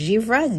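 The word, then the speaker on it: givré: opaque in there and that's pronounced zebra g-i-v-r-e sorry about my french and this one this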